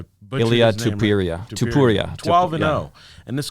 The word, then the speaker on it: Topuria: Topuria? Topuria.